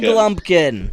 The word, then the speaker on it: Lumpkin: It rhymes with pumpkin. Lumpkin? Yeah. Jared? Lumpkin.